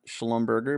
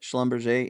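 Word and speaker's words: Schlumberger: I I think that we proved that it's not schalom Berger but schomber and halberton is a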